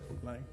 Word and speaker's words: Lai: Am I pronouncing that correct? Is that correct? Lai. Okay.